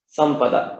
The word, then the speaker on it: Sampada: So the pure nasal sound, which was that Anuswara, takes on the form of the following letter Pa. So it becomes Sampada.